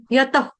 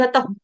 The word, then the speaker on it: यतः: पूरा पूरा उच्चारण नहीं बस टच देना है हल्का सा फ का टच देना है हमने खूना है उसको बस पूरा पूरा नहीं बोलना फ ऐसे नहीं बोलेंगे यतः बस सांस छोड़ा लेकिन सांस छोड़ते हुए यतः इस तरह से यत ऐसे ठीक है बाकी